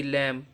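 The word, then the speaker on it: lamb: के बाद आया है एल ए एम बी लम तो यहां पर बी क्या है साइलेंट है इसी तरीके से टी कहां पर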